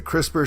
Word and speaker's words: CRISPR: very cute MIT so CRISPR crispers pronounced CRISPR stands for clustered regularly